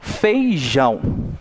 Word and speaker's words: feijão: Feijão, né? Então, eu coloquei uma intensidade maior no jão, né? Assim como café, né? Eu pronunciei um pouco mais forte o fé, né?